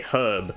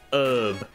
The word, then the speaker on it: herb: because I am Australian so we say herb not herb you illiterate pumpkin Americans